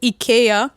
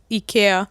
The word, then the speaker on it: IKEA: So, apparently the correct way to say it is IA. Is it not because it's a Scandinavian brand? Yeah, it's a European brand. So, yes. So, they say it ea.